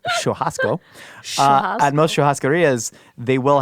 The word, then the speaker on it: churrasco: to most Sharia yes I'm using the Brazilian pronunciation of shasco at most Sharia they